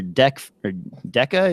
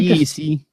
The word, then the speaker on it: DEC: But this Aperture Deca, is that how you pronounce that? They DEC. Just say DEC.